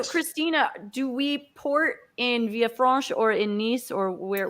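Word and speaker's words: Villefranche: city and this is bob maybe you can pronounce for me because i don't want to get it wrong it is via france via france okay which is uh very close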